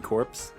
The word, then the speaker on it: corps: it's core is it core i thought it was corp i don't know pronounce the core it's spelled corp do you say marine corpse that's the marine corps i'm not gonna go